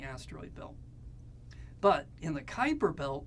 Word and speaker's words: Kuiper: of Neptune is going to be called the Kuiper belt now I know it looks like Cooper but it's pronounced Kuiper and in the Kuiper belt you're